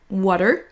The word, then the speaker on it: water: Là, on va prononcer la première plus longue, plus longtemps. Water.